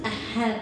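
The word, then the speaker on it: אהב: ahb lang Okay sa sa Hebrew word ahb lang ang pronounce is a have Actually yung a a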